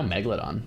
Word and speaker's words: megalodon: Megalodon. Yeah. So it's not mega. Megalodon is the extra syllable. It's just megalodon.